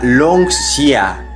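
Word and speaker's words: 龙虾: Se pronuncia Longxia.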